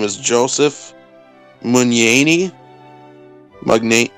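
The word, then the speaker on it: Mugnaini: illustrated the book um his name is joseph munyani magnate it's spelled m-u-g-n-a-i-n-i it's really cool it's very it's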